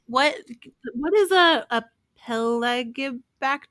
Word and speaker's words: Pelagibacter: Yeah, Um, like what is a peligobacter? A peligobacter? Peligobacter? I'm probably saying it wrong. Pelagibacter? I think Oh, it's maybe it's a Pelagibacter. pelagibacter. That sounds more correct.